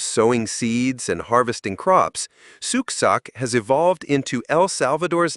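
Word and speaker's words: Xuc: Born in the 1940s, the name Zuk, pronounced suk, comes from the quirky shook shook sound made by the clarinet in traditional folk music.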